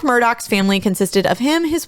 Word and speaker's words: Murdaugh: to mispronounce their names it is Murdoch not murdah the father's name is